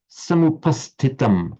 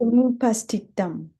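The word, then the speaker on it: समुपस्थितम्: Can you just do this samupastitam again? Samupastitam. And as I was saying earlier, in connection with Roger's pronunciation, make the h sound after the term word samupastitam. Samupastitam.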